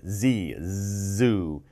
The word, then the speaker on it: zoo: is called a zoo zoo when you pronounce Z Z zoo not Zhu Zhu Zhu ok good ok let's